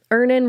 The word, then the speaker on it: Earnin: Download Earnin on the App Store or Google Play, spelled like earning money without the G.